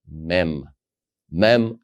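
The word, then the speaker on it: מם: and then you have the letter mem as in m you pronounce it as ma like Max or Market Ma all right so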